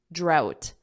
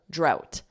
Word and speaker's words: drought: oh what about this how do you pronounce this say it drought out out so leave out out it's that sound out and then with a d d drought drought and of course a